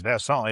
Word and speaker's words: Versant: I say Vers. It is part of our show's traditions. It is Versant. It is a French pronunciation.